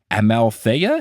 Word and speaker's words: Amalthea: Thalia explains that this goat is Amalthea.